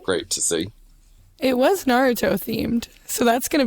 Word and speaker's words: Naruto: Nar Naruto or Naruto technically that is the right way to say it Naruto that's yeah that's how it's said in the in Japanese um so I think